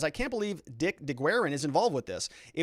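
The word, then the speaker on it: DeGuerin: says i can't believe dick deguerren is involved with this it would be like robert barnes letting one of his partners file something like that i just can't see it it's pronounced de garin thank you for that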